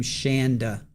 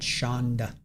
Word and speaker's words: Shanda: I'm pronouncing her name Shanda, not Shonda.